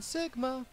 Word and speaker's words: Sigma: I mean Sigma. I used to pronounce his name Sigma all the time. It's like, there's no Z, Leland. Where are you getting that?